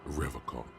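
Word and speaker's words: Revachol: He pronounces Revacol with a hard K, unlike other people. You said Revacol? I like to pronounce it the hard way, the old way, the Vespertine way.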